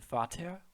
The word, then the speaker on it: Vater: The letter V, or V as they call it, is pronounced as the English F.